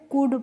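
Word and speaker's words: could: यहां पे जो एल होती है वो क्या होती है? साइलेंट होती है। यानी कि एल का उच्चारण हमें नहीं करना होता। तो इसे हम कुड पढ़ेंगे।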